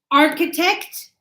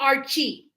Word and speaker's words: architect: So, we've got architect. So, look at the spelling. Look at the spelling. Ar. Architect. Not Archie. No. Architect.